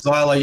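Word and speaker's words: Xyla: her say her name xila zyla Fox it is zyla yeah I um I've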